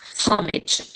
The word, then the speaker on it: homage: Cambridge dictionary and this homage you know H but this in British H this is like pronounced like O like this while this Okay.